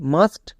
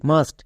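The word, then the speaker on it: must: জন্য আ ইউজ হচ্ছে নেক্সট একই রকম ভাবে মাস্ট এখানেও দেখো ইউ আছে এবং ইউ এর পরে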